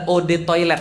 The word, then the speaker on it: eau de toilette: air mau sombong banget eau de toilette adalah Ode toilet bacanya e-awb atau odd kuatnya